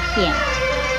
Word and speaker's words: 片: 片子的国语注音是呼咽片四声片，片四声片。